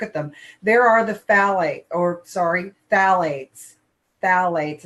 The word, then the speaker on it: phthalates: There are the phthalates. Phthalates. It's pronounced without that P.